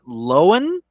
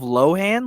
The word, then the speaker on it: Lohan: it's technically yelen hole and the other one loan instead of Lohan Lindsay loen um and there's also William Deo